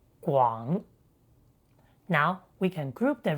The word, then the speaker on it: 广: In simplified Chinese, it is the same as the radical, but remember, it's pronounced 广.